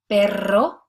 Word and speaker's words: perro: with a singular R, it's going to be pronounced as r, that trilled R. So that's why we're pronounced perro, rosa.